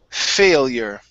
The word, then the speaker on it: failure: we have the word failure okay so long a fey failure failure all right very good